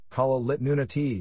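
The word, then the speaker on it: Kalaallit Nunaat: Greenland Greenlandic kilala do not pronounced call it nudity Danish Brundtland pronounced Kon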